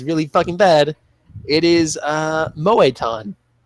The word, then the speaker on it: Moetan: I have a feeling there's an accent It's over just literally just, it's Moetan. How you think you would spell it. It's Like just all that? one word. M-O-E-T-A-N.